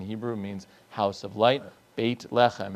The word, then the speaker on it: Beit Lechem: Beit lechem is how they pronounce Bethlehem in Israel, and so it is the house of bread.